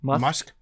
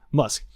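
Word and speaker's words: musth: up too much when they're in muff muff musk it's then but it's spelled m-u-s-t-h-moth ah musk um but because all the PO the poachers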